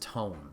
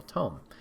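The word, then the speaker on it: Toem: to the party um i believe it's pronounced tone t-o-e-m and essentially what this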